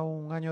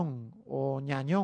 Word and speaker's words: Gnagnon: es la del año un año en que parece que se pronuncia así correctamente el futbolista francés internacional